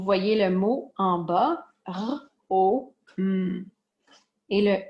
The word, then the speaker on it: Rome: Et le E est muet. Donc, le E donne la permission, donne le micro à la consonne qui est placée avant pour donner la permission à la personne qui lit de le prononcer. Donc, c'est R, O, M, Rome. Parce qu'on ne lit pas R, O, M, E. Le E, c'est un E micro.